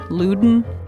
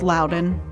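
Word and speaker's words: Loudoun: It's also one of those counties people say wrong all the time. Luden. It's Lden.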